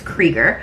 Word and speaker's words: Krieger: name which is krieger everyone thinks it's pronounced kruger but it's not it's krieger and it says holland